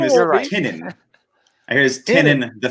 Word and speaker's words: Tynion: It's Tinin. And Tinin. That's the worst. Yeah, before I thought it was pronunciation yet. Tinian.